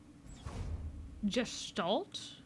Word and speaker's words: Gestalt: Gestalt. Alt is in altitude. Gestalt like how you say the letter G. Just so that I'm saying it right.